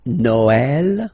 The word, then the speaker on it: Noël: that in some cases you will have to pronounce it like eh, okay, like for instance Noël, okay, but then in some cases as well it can be pronounced like eh, okay.